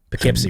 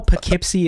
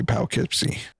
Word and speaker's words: Poughkeepsie: because in this situation p-o-u is puh as in puck you do not pronounce my name as pah oh you don't say pow kipsy started playing keyboards and